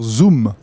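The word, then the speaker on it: Xoom: Motorola la fameuse zoom alors ça s'écrit zoom mais il faut dire zoom faire un zoom sur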